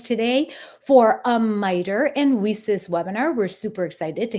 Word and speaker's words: WiCyS: but we pronounce it whis like we sisters because that's exactly what